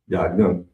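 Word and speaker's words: יין: Next up on the list is wine, and it's pronounced yayin. Yayin, yayin, yayin. We definitely need to know that. Young. You said what? Call. Yayin. Or I mean, it is your young, but you can pronounce it young.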